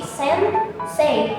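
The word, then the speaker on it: 先生: Nah, ini dibacanya jadi sensei yang artinya adalah guru atau orang yang udah hidup lebih dulu.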